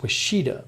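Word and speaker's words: Ouachita: MJ says Wachita is pronounced Washita. Washita. I believe you. Washita. Washita. No, it's Washita. According to Wikipedia, it's Washita.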